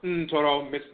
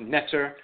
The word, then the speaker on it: Ntoro: So on this stela, we see the Ntoro, the deity, the god, Tehuti, and of course Ntoro, mispronounced Netter, but it's Ntoro vocalized.